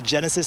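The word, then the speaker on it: Genasys: Again, officials have been promoting the Genesis app. That's Genesis spelled with a Y, G-E-N-A-S-Y-S, to see if you are within that evacuation zone.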